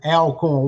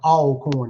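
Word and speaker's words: Alcorn: So, a northerners uh usually uh pronounce it alorn. We call it all corn and we always say always corn.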